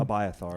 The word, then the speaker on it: Abiathar: verse 9, he tells uh, how do you pronounce this priest's name? Abiathar, as well. Abiathar.